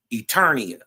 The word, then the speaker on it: Eternia: Earlier when we was building, it was called no, I said it wrong. It's Eternia.